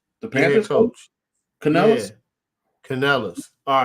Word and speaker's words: Canales: How do you pronounce his last name? Craig. The Panthers coach? Canales? Yeah. Canales.